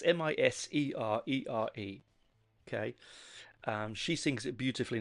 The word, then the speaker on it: Miserere: I am going to mispronounce that wrong. It's Miserere.